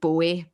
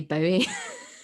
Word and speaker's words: Bowie: And I am aware that it's meant to be David Bowie, but being Glaswegian, we all just want to say Bowie.